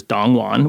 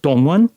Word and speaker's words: Dong Won: Um and you know, you'll hear me say it in a mostly Americanized way on the show, which is Dong Won, which is how I've for years and years introduced myself to, you know, white Americans. Um I have recently been shifting a little bit to something closer to the Korean pronunciation, which is more like Dong Won.